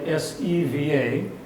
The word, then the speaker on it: Seva: child is actually not save a child is it that's correct um it's a play on the words actually it's spelled s-e-v-a and seva in india means